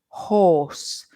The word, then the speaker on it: horse: similar no no um look at my my lips Maria horse can you see that for the O are horse my my lips are round horse and HSE my lips are more Square can you see that hearse and for horse my lips are pointed horse and they're rounded but hearse they are a bit more Square now the Earth sound